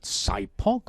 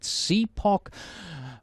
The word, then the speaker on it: SIPOC: Is it SIPOC or is it CPOC? Well, SIPOC, CPOC, please feel free to use either pronunciation or either pronunciation. We here on the Prepcast have decided to go with SIPOC.